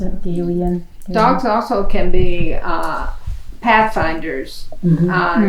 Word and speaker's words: Galilean: How was supposed to pronounce it? Galilean.